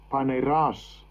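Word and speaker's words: πονηρός: Paneras.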